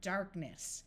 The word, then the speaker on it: darkness: e kneel Knack knock one of the few words where K and N don't have the sound of n is the word Darkness notice here we have the root dark and the N is only here because of the suffix Ness so the silent k